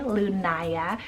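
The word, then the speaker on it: Lunaia: One that I kind of made up here is Lunaya, spelled L-U-N-A-I-A, Lunaya. A beautiful way to spell it, but there's multiple other ways that you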